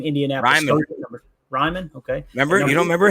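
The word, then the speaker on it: Raimann: We got Bernhard Raymond, I think is how you say the name, Indianapolis. Ryman, okay.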